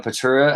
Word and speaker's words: Praeterita: from the Dei Aurea Praeterita. How do you say that exactly? Praeterita. Praeteria. Yeah, try to use the first word is based on Praetorian.